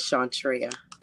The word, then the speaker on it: Shantrea: Actually, Treya is part of my name. My name is Shantrea. Oh, Chantra.